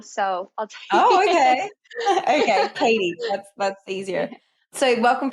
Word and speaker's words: Cattie: how I say it it's Katie but it totally looks like caddy some I've even gotten cattle so I'll oh okay okay Katie that's that's easier so